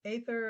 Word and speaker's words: Aether: Since then, I've studied with scientists who've been talking about it, and they pronounce it Aether and spell it with an A.